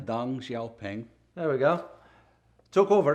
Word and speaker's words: Deng Xiaoping: Right after which Deng Xiaoping, I hope I pronounce it correctly. Deng Xiaoping.